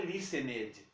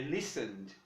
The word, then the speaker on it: listened: Não é listened, é listened.